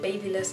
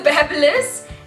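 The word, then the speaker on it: BaByliss: I used to call it babyless until I heard other people call it babless. It's a babless, and it comes with a whole lot of other attachments.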